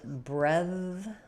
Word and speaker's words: brethren: So in brethren, we have first syllable stress. Both of these vowels, brethren, are vowels. Since this one is unstressed, it's going to be very short. So we have this is a voiced th.